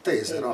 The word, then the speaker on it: Tesero: Tesero, attenzione all'accento, Tesero, non Tesero appunto.